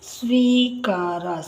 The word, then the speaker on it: ಸ್ವೀಕಾರ: ಒತ್ತು ಕೊಡಬೇಕು ಹಾಗೆ ನಂತರ ಸ್ವೀಕಾರ ಸ್ವೀ ಇಲ್ಲಿ ಈ ಉಚ್ಚಾರ ಮಾಡ್ತಾ ಇರೋದರಿಂದ ಸ್ವೀ ಸಿ ಬರದು ಅದಕ್ಕೆ ವತ್ತು ದೀರ್ಘ ಸ್ವಿ ಕರ ಇಲ್ಲಿ ಸ್ವಿ ಅನ್ನೋದರಿಂದ ಗುಡಿಸು ಮತ್ತೆ ದೀರ್ಘ ಎರಡು ಬರಬೇಕು ಇಲ್ಲಿ ಸ್ವೀ ಅಂತ ದೀರ್ಘವಾಗಿ ಹೇಳ್ತಾ ಇದ್ವಿ ಅದರಿಂದ ಎರಡು ಬರಬೇಕು ಸ್ವೀಕಾರ ಇಲ್ಲಿ ಮತ್ತೆ ಸ್ವೇ ಛೆ